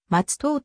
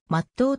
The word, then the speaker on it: 松任: が地名の由来本来町須藤と読むが穏便で真っ当となった jr 松任駅も